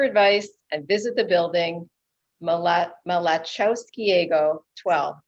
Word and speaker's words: Malachowskiego: and visit the building mala malachowskiego 12. did i pronounce that right no it's a tough one it's it the l is on what so it's ma okay i'm not even going to try that yeah it took